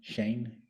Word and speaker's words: Schoen: It's this guy named Kurt Shane, it's spelled Schoen, and and Juan brought